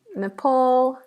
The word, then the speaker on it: Nepal: have the Netherlands with an S but it's pronounced as a zed the Netherlands we have Nepal Napal I'm just going to do two more and